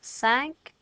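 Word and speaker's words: cinq: so let's try those sank seas set wheat from the beginning ah dude ha cat sank cease set meet did you remember not to say the silent letters so there they all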